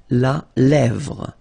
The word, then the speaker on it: la lèvre: Remember, accent grave here. Really open. La lèvre.